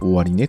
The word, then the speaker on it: 終値: された価格です終値と読みますにケーキの終値